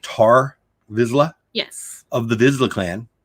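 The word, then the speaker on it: Tarre Vizsla: with guesses and am i saying it right tar vizila yes of the vizzle clan of mandalore yes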